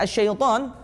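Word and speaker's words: الشيطان: Kata-kata asyaiton dengan menggunakan huruf sya atau huruf shin. Namun banyak di antara mereka yang membacanya dengan a'udzu billahi minasyaito dengan huruf sa.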